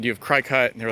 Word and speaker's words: Cricut: So lately I've been thinking about 3D printing, Cricut, however you pronounce it. I say Cricut, but CRICUT, the cutting machine, and things like that, different ways to make the ships.